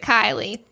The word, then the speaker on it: Kylie: It looks like it's spelled Kaylee, but Chris Harrison pronounced it Kylie.